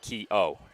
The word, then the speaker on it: Keogh: Well, but it is pronounced a bit differently. Yeah. We cover the Kehoe brothers at the College of Staten Island. This is Keogh, no H in front of that last syllable.